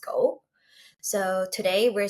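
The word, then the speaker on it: 五: Um while talking about the fives um the number is actually symbolic uh because in Japanese the number five is pronounced go.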